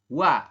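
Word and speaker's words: 와: atas tadi seperti itu O dengan a maka dibacanya adalah wa bukan oa ya ini kan harusnya oa cuma kita Bacanya adalah wa seperti itu Sampai sini kira-kira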